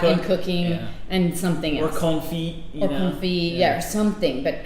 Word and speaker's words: confit: cooking and something or confit yeah or something but how cool is that it's just so real i love that anyway i pronounce the tea in confit am i lame why